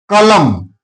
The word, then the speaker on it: column: For example, column here N is silent because N comes after M.